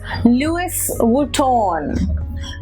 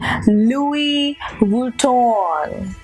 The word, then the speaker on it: Louis Vuitton: take it at newest so it is not Louis Vuitton it is actually Louis Vuitton it is what it